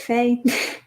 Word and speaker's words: Fae: doing good thanks yeah so since the fae is that how you say it fay yeah it is probably ahead of time